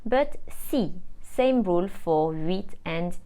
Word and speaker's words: six: mil and remember that when 6 is followed by a number or something else it is not pronounced sis but C same rule for read